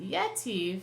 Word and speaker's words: yetiv: the accent is but yet Eve specifically is lute in front of the Hebrew so the accent the first syllable is being accented hence the name of